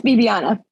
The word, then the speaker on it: Viviana: It's Bibiana. Viviana.